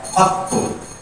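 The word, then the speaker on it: قطّ: Wa hadza bi fathil qafi faqat, ya wa tasdidut ta'i qattu, ya madmumatun fi afsahil lughati, dibacanya dengan dhamma menurut kaul yang paling sahih qattu.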